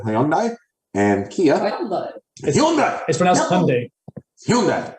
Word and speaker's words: Hyundai: and Kia Hy hyi Hyundai H as Jason Bon H that's how they say it in Australia we're not in Australia are we it's h like Sunday n anyways Nike n uh but yeah they're